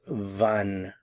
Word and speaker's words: wann: when in German is Van van notice the pronunciation of the W van van van when